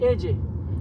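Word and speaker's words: Ajay: AJ. You pronounce it? AJ.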